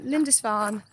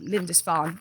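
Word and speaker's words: Lindisfarne: hopefully but anyway apparently Linda fan at Holy island is beautiful I should say holy Island lindes fan really I've been saying it wrong the whole time but get the gist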